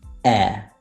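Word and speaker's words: heir: There are only 4 words in which the H is silent. And obviously the words that are either compound or that come from these words. And they are our, honor, honest, air.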